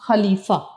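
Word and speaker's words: خلیفہ: फिर फे जबर फा ख जबर खा लाम जरली फे जबर फा खलीफा तो खलीफा हारून रशीद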